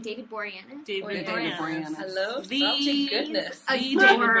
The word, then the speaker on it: Boreanaz: David Boreanaz.